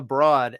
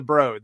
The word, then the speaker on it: The Broad: i did this originally i pronounced it the broad and i got yelled i had all people from l.a on on the show that week and they it's the broad they all yelled at me uh so i will